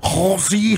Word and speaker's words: Halsey: Halsey. Yeah, why do you say it like the that? The S is more of a Z.